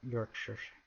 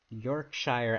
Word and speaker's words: Yorkshire: Nah, it's pronounced like sure. Yorkshire? Oh, that does make sense. Looks like Shire, but pronounced shore.